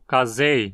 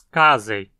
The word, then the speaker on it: casei: da espécie, Lactobacillus casei, que muitos pronunciavam como casei nos comerciais. Aqui a penúltima sílaba, z, não tem requisitos para levar o acento também, então dizemos casei.